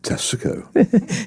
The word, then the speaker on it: Tesco: I have one thing I remember about Swansea which is probably incorrect which is that Swansea Tesco has three syllables. Could you do that for us please? Tesico.